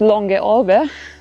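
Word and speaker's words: Langalm: uh which with the south tiolian dialect is pronounced long ago.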